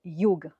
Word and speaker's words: yoga: Par exemple, le mot mantra n'est absolument pas prononcé correctement. Normalement, c'est mantra. Le mot karma, c'est karma. Et le mot yoga, c'est pas du tout yoga, c'est yoga. Vous entendez le petit E subtil à la fin qui n'est pas du tout une voyelle.